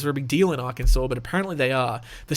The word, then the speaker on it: Arkansas: All right, we're going on to Arkansas. I believe that's how that's pronounced. Arkansas. I'm just kidding. I know how it's pronounced. For some reason, it's Arkansas, but I mean, it's an S at the